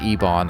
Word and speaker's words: Ebon: They pronounce it Ebon. I know it's Eben, but the game is pronouncing it Ebon.